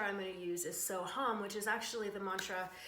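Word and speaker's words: So Ham: So it's So Hum, S-O, and then H-A-M, but it's not like ham, like we would normally pronounce that over here in Canada or in sort of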